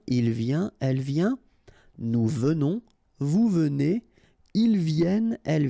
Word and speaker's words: venons: Nous venons. Okay, so final S not pronounced, and then remember that you pronounce this like a the. Venons. Okay, O-N in your nose, on.